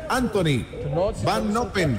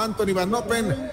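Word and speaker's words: Antonie Van Noppen: Indudablemente, para los holandeses, lo han indicado desde el coche del director deportivo, se pronuncia en holandés Anthony, se escribe Antonie.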